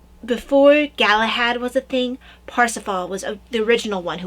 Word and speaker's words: Parsifal: they went with parsifal p-a-r-s-i-f-a-l but that's old spelling yeah uh it's not pronounced percival it's pronounced parsifal well obviously that's yeah